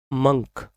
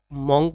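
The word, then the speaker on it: monk: कुछ लोग इसको अक्सर इसको मॉन्क बोल देते हैं बट इसकी राइट प्रोनाउंसिएशन है मंक।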